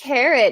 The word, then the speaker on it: Karat: It's actually, I think it's pronounced carrot. Is that right? Carrot. I didn't carrot. I didn't want to jump in, but no, that's okay. It's definitely carrot.